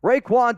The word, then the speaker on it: Raekwon: was like that's not how you say it Raekwon Davis Raekwon Davis back in 2020 was a